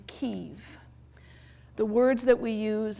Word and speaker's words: Kyiv: Similarly, the capital, the Russian pronunciation is Kiev, as in chicken Kiev. The Ukrainian pronunciation is Kyiv.